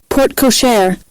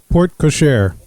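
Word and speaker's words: porte-cochère: the po port cashore how do you say this p-o-r-t-e c-o-c-h-e-r-e port ashore cashier like pig let's see hold up i can look this up real quick port cochair port cochair was that you kevin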